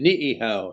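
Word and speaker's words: Niʻihau: letter in the word like the island that's off of kawaii it's ni I I H Au and you pronounce it niow you pronounce both eyes yeah and then German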